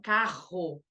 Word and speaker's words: carro: dígrafo consonantal, por exemplo, o RR, são 2 letras, não, visualmente são 2 letras, mas eu estou falando um som só, que é aquele R mais forte, né? Então, carro, diferente, claro, de caro, que é uma letra representando um único som.